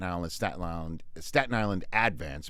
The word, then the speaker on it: Advance: Staten Island Staten Island Advance because we put the accent on the first syllable on things in Staten Island it's not the Staten Island Advance the advance yeah so